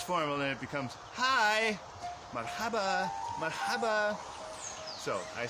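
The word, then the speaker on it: مرحبا: If you take that N sound off the end and pronounce it simply marhaba, it becomes less formal and it becomes hi, marhaba, marhaba.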